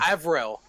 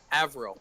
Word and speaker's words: Avril: just look at discord avril avril avril no i'm looking i literally have this thing highlighted and i still forgot how to pronounce it a game question it is april with a v april okay okay you